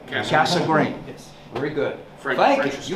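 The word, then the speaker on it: Cassegrain: in telescopes and that's the way you pronounce it casa grain not cassagrian right casa green yes very good thank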